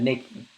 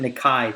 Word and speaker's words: Nikkei: Not Asian, but Nikki. Nikki. I think they pronounce it Nikkei, to be honest. I think it's Nikkei. And there we have it.